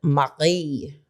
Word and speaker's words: Marie: Everyone's going to call her Marie, but it is a French name, and that's how the French pronounce it.